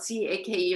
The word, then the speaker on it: cake: it's called cake well they spell it c-a-k-e and they call it cake and the cake was